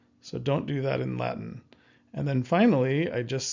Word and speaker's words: Latin: We actually just stop our breath Latin and we kind of hear this T but it's not really there.